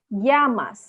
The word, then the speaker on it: llamas: Double L जो है या करके प्रोनाउंस करता है. como te llamas. जैसे अगर इंग्लिश में स्पेल करोगे तो YAMAS हो जाएगा ऐसे.